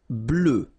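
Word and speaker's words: bleue: feminine form GRE blue blue so same thing that we had for Noir you just add this at the end but then you don't pronounce it blue blue all right so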